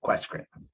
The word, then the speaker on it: QUESCREN: communities research network, or as I like to pronounce it, QUESCREN.